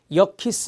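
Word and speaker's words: Yerkes: 알파 게 말이 있습니다 여 키스 라고 읽어요 역 키스 그 다음에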